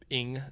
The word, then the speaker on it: Ng: Behind Clement Ing is how you pronounce NG for some reason, he came and raced at CalSpeed for a little while, but not too much.